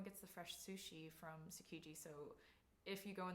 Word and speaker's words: Tsukiji: And then, as you can see, it's the Tsujuki Market, I believe. Is that how you say it? Tsukiji. Oh, Tsukiji.